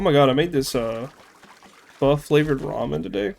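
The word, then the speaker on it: phở: Oh my god, I made this, pho flavored ramen today.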